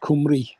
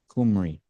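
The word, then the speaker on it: Cymru: Welsh for Wales is Cy rmu which is pronounced kumry kumry okay I've all I've seen a lot of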